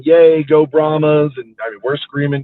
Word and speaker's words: Brahmas: They're like, it's Brahmas, not Brahmas.